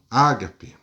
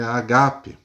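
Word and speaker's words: agape: a palavra grega Ágape uns falam Ágape mas no original grego pronúncia é Ágape e traz o significado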